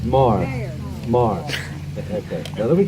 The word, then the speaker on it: Maher: Some people say Mar, some people say Mayor. It's Mar.